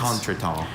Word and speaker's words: contretemps: Contretemps. Jeremy moves Contretemps. steadily from blunder to contretemps to embarrassment to disaster. T. Contretemps. Am I pronouncing the word correctly? There's contretemps and also contretemps.